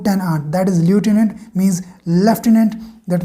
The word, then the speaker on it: lieutenant: ल्यूटिनेंट means जिसको हम local में लेफ्टिनेंट बोलते हैं, कई विलेजेस में इसको लेफ्टिडेंट भी बोल देते हैं।